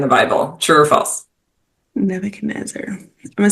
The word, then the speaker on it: Nebuchadnezzar: in this letter like some guy named nebuch Nebuchadnezzar who I didn't even know how to say